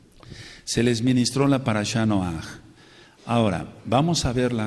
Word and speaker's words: Noaj: veces pronunciamos mal y lo reconozco noaj no es no con acento en la o él eh No sé